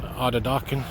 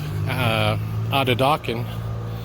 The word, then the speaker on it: Atateken: here on Sherbrooke and Atateken. And like I said, I know it's pronounced, it says T on it, there's T's in the name, but it's actually pronounced as a D as in David.